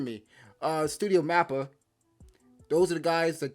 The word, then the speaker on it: MAPPA: same studio uh studio m a ppa i don't uh well i think it's pronounced mappa forgive me uh studio mapper those are the guys